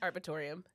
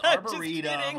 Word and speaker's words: arboretum: the los angeles arboretum arbitorium oh my gosh it's arboretum arboretum arboretum we listened to google pronounced about 35 times this morning um but in arcadia